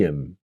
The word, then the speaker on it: him: Okay, this is what happens when we speak really quickly and the H disappears.